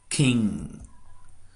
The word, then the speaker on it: king: for example the word King we don't say king get no listen again King wing ring sing long